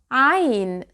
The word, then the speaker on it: عين: through your mouth, but when you say there is no air. I can't feel the air. And that's because I blocked the air by tightening my throat. I can feel the vibration of vocal cords here.